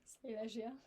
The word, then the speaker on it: Silesia: You are also a recent PhD student at University of Silesia, am I pronouncing it correctly? Silesia.